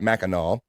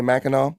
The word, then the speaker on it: Mackinac: We got Mackinac. Corrected. Cyke Labs content emojis right there, but on Esther, that's how it's pronounced, Bobby. Did I not say Mackinac?